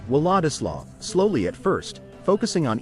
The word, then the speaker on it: Władysław: Vwah-dih-swav. Let's break it down. V. Start with a V sound instead of the English W.